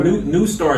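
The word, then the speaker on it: NeuStar: It's NEU Star. An EU Star.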